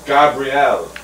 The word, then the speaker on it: Gabrielle: Ooh, she has the fancy pronunciation. Gabrielle. Ah. Ooh. French pronunciation.